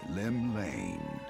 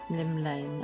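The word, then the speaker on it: Llymlaen: drawn The Gaze of the nation's Patron deity Lim Lane Lim Lane okay that's a lot easier than I was trying to pronounce it what Rome shaking Fate has she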